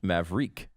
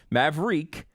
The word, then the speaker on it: Maverique: we should point out it's pronounced maverique like it's so confusing how can it be the thing that everyone gets so mad about if you screw it up like it's such a confusing thing maverick is a specific